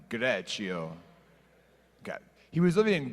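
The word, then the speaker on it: Greccio: a town called greto everyone say greto and now say it like an outrageous Italian greto okay he was living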